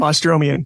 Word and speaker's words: Bostromian: Because the Bostromian, how do you pronounce his name? Bostromian.